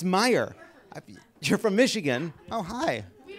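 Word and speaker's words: Meijer: Michigan Representative Peter how do you say, it's Meyer.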